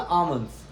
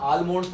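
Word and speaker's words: almonds: However आलमंड्स, ठीक है, एल की आवाज यहाँ पर मत निकालना, आमंड्स, एल की आवाज नहीं है, आलमंड्स मत बोलना, आमंड्स, ठीक। तो यहाँ पर एल को थोड़ा साइलेंट हम रखते हैं।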